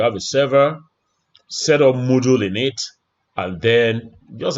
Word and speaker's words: Moodle: Module has just one O, Module 7, versus Moodle. This one has 2 O's. So it's pronounced Moodle.